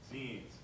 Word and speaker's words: zine: That's right, it's pronounced zine as in like a magazine.